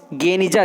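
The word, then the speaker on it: גניזה: 1896 में फुस्तात यानी पुराना काहिरा में बने इज़रा की यहूदी प्रार्थना भवन के एक सीलबंद कमरे गेनिजा, जिसका उच्चारण गनीजा के रूप में किया जाता है, मध्यकाल में यहूदी दस्तावेजों का एक विशाल संग्रह मिलता है।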